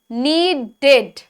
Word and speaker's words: needed: Then next is needed. Needed. 2 syllables.